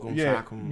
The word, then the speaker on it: Siakam: Like, Siakam is that how you say his name? That dude's a baller. Yeah. Siakam.